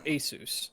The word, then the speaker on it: Asus: Asus. Or Asus is the proper way to say it, but...